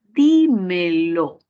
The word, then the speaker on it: dímelo: Y ya que tiene 3 sílabas y la mayor fuerza de voz va a ir en la raíz verbal, di, entonces sería una palabra esdrújula y sí le corresponde la tilde, por eso es que